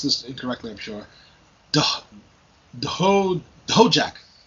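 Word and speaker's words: Dhojakt: incorrectly i'm the sure ho jack it's spelt d-h-o-j-a-k-t so i have no clue that's actually pronounced no jack sounds good now this this guy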